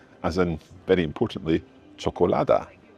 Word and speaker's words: čokolada: And this one is pronounced as ch as in very importantly cholada.